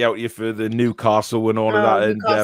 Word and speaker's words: Newcastle: I support Newcastle, and I'll always support Newcastle. Castle, as it is meant to be pronounced.